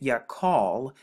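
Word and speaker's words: יחל: it has three characters the yard right here which makes the y sound and then the kat which can be used as the k sound or the c h interchangeably and then the long right here which makes the the l sound and when you put it together you get ya call ya call and going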